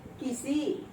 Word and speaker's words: किसी: तो हम उच्चारण पर ध्यान देंगे कि ए किसी में जब हम बोलते हैं, क्या बोलते हैं, किसी, यानी की पर कम जोर पड़ रहा है और सी पर अधिक जोर पड़ रहा है। जहाँ कम जोर पड़ रहा है वहाँ हर्ष की मात्रा हुई, और जहाँ अधिक जोर पड़ रहा है वहाँ दीर्घ की मात्रा हुई।